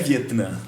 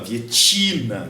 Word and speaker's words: Vietnã: Fria a Guerra do Vietnã é mas é Vietnã né o pessoal fala vietina Vietnã até mudo e aí quando eu falo Vietnã galera